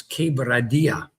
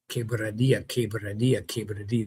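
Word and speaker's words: Quebradillas: And he'd say, that's Quebradilla. Quebradilla.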